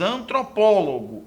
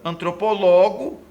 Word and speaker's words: antropólogos: termos antropólogos e fotógrafo a sílaba tônica recai na penúltima não gente cai na antepenúltima reparem contado da direita para a esquerda última teno última antepenúltima última teno última antepenúltimo e também gente reparem que se caísse na penúltima sílaba não deveria ter assento porque nesse caso seria antropólogos fotografo e nesse caso as palavras seriam paroxítonas no entender do termo